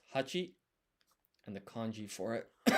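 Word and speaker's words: 八: And then 8 is pronounced hachi, and the kanji for it is this.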